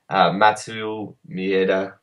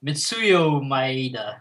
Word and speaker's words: Mitsuyo Maeda: who's under Helio, who's under Carlos, and then Matsu Mieda? Like, do you see the lineage? Yeah. Well, I can't say the name. I obviously butchered it. Matsuyu? Mitsuyo Maeda.